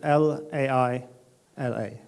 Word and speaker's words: Laila: Laila is we spell it L-A-I-L-A, Laila.